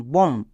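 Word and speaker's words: bomb: যেমন একই রকমভাবে দেখো, প্রত্যেকটি ওয়ার্ডের শেষে বি আছে এবং এম এর পরে বি আছে, তাই বি সাইলেন্ট আছে। যেমন COM, কম, BOM, বম, THUM, থাম।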